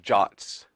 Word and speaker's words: JWT: on the slide so jwt's are pronounced jots this stands for a